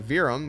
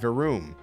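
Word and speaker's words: Verum Rex: you pronounce virum rex it's actually not virum it's verum varum v-e-r-o-o-m weird it's kind of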